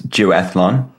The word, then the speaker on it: duathlon: So it was duathlon.